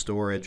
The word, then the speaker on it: Storj: language that is, but I believe that it's actually meant to be pronounced storage, or at least that's